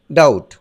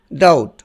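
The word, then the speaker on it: doubt: এটি কিন্তু ডাউট নয়, কারণ বির পরে টি থাকলে বির উচ্চারণ সাইলেন্ট থাকে, তাই এটির উচ্চারণ হবে ডাউট। আমি আবার বলছি ডাউট।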